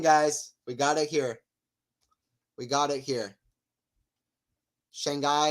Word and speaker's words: Shanghai: Shanghai is pronounced Shanghai. Rhymes with father.